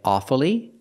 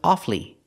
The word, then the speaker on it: awfully: word has two pronunciations sometimes you'll hear Americans say awfully and pronounce it with three syllables pronouncing the U following the rule awfully but it's not very common it's more common to hear offly offly and not pronounce the U offly two syllables the you is silent this is more common